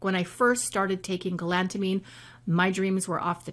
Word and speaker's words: galantamine: is a little supplement that I take called galantamine. Galantamine, G-A-L-A-N-T-A-M-I-N-E. Sound it out. Galantamine. That's how you spell it.